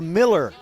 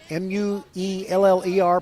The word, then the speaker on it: Mueller: Number one, the longtime head coach of Cy Ranch varsity softball is Sarah Miller. M-U-E-L-L-E-R, pronounced Miller, not Mueller.